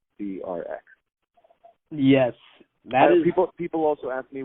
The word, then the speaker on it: CRX: So people will ask me, is it pronounced Crix or Crux or Crooks or Crack? But it's just 3 letters, the CRX.